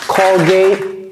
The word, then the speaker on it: Colgate: right all right Cody please help us pronounce this callgate callgate callgate all right Colgate Colgate you get your Colgate callgate perfect okay